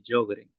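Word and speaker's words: Sjögren: Eh, hay una enfermedad que se llama la enfermedad de Yogren. Se escribe j O gren, g e n.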